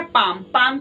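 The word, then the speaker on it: palm: " पाम" में 'ल' silent है।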